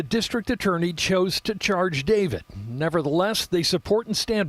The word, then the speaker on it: D4VD: D4VD is how he spells his name, but it's pronounced David.